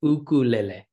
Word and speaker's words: ukulele: and the name itself is Hawaiian it's it's two different words uh that are still used in Hawaiian today uku so UK KU uku and then l l which sounds similar to almost Spanish pronunciation so it's ukuele and